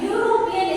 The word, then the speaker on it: European: So here European is pronounced as U, Y-O-O. So U. So we must use a here. European. So here it starts with Y.